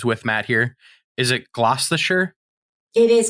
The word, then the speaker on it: Gloucestershire: Is it Gloucestershire? It is Gloucestershire.